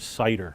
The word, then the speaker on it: CIDER: and it's and it's an acronym spelled like the word cider c-i-d-e-r okay that's our software that